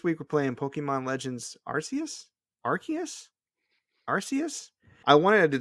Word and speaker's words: Arceus: old pokedexes are totally believed it's pronounced arceus there you go i'm still going to say rcs and you know what honestly considering how many people have done it before and especially through official pokemon channels i ain't mad at you if you want to still do rcs but they're wanting people to say arceus like that's the official cannon so just so you